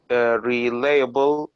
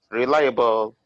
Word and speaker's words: reliable: good she is knowledgeable real uh relayable and fashionable all right the second the second one can you say it again reliable and let me help a little bit say it like this reliable right very good that's